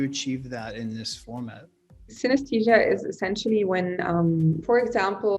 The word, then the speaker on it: synesthesia: In your work, you talk about synesthesia.